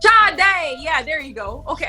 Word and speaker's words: Sade: Sade. I don't know if I'm pronouncing HER NAME RIGHT. SHADE.